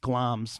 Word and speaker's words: Glamis: Well, because it's spelled Glamis. Glamis. Yeah, glams. And I said Glamis the whole time until I just took the time to Google it. I'm like, oh, glams. Glams.